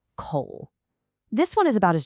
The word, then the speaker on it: 口: First up, we have coal, which is pronounced coal.